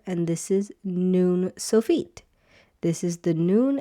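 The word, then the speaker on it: נוּן: Many people pronounce this as nun at the end here but it's not none it's noon. So Joshua the son of noon.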